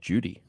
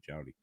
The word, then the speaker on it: Jowdy: I'm like, "Well, it's spelled Jowdy, so I'm going to pronounce it Jowdy." And they're That's like, "Well, you can't. That's not how it's pronounced." I'm like, "Listen, it's an Arab last name. It's actually Jowdy.